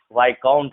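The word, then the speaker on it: viscount: आई के बाद अगर एस होता है तो एस साइलेंट होता है। जैसे यहाँ आइलैंड पढ़ेंगे, आइल पढ़ेंगे, यहाँ आइल पढ़ेंगे, इसे डेवरी पढ़ेंगे, इसे वाइकाउंट पढ़ेंगे, तो यहाँ भी एस साइलेंट है।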